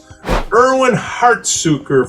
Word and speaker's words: Erwin Hartsuiker: is and today we have extremely special erwin hartsuker from my media erwin did i say that